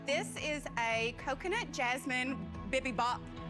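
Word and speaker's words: 비빔밥: This is a coconut jasmine bibimbap. Bibimbap, bibimbap, bibimbap, bibimbap. I have no idea. I mean... Sorry, can you tell me how to say it correctly? Bibimbap. Bibimbap.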